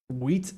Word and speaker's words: wheat: I say it with a very unnecessarily strong T, almost as if I was British, because British people pronounce their T's way stronger than people from America, from the United States. So I say wheat in Minecraft instead of just like help. Like I don't usually pronounce my T's that strongly, but that's just so